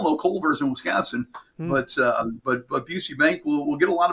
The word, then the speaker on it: Busey: We're going to see that, I'm sure people are going to mispronounce Busey Bank all over the Midwest. The Bussy Bank or whatever it is that.